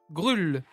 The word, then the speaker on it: Grull: aujourd'hui j'ai le plaisir de recevoir Monsieur Hervé grül et bonjour bonjour Comment ça va ça va